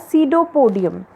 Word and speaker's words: pseudopodium: P is silent there, so we will pronounce it as pseudopodium.